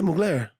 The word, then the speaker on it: Mugler: I'm loving Mugler. Okay. Did I pronounce it right? Yeah, Mugler.